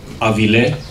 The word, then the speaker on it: avile: Vut rakle avile, stress on the last syllable.